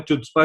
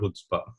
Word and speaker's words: Chutzpah: इस चीज को, मैं चुचपा चुचपा बोलता रहता था इसे, क्योंकि उन्होंने कहा था कि नहीं है Chutzpah है, सी साइलेंट है, इट्स अ हिब्रू शब्द.